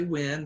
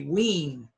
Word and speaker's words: when: sin 10 when now many foreigners who don't speak English well they don't say when they say ween Ilene the prize but